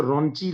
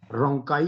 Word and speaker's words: rhonchi: अब ऐसे बोलने में तो रॉन्ची लगेगा, जैसे बच्चे कहते थे रॉन्ची ना पीटो, लेकिन ये रोंकाई डिजीज है।